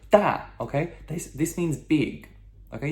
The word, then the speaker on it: 大: Okay, so this character is 大. 大, okay? D-A, fourth tone descending tone, okay? That sharp no. 大, okay?